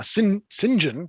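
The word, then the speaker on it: St John: the blustery man uh sinjin which i just discovered is uh how you pronounce uh saint john if it's a given name apparently he seems to legitimately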